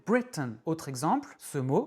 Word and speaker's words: Britain: Ce mot se prononce Britain. Bray est accentué et T-A-I-N n'est pas accentué. Donc T-A-I-N se prononce un. Britain.